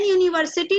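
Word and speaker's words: university: यू क्या है बच्चों, जब हम यू को प्रोनाउंस करते हैं तो एक कौन सी साउंड देता है हिंदी में, या, है ना, या यज्ञ का। तो यहाँ पे यू को हम वाई यू मतलब यू, यू बोलते हैं।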